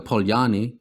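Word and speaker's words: Poljane: of the pole jane or the polyani as i think is correctly pronounced valley with his black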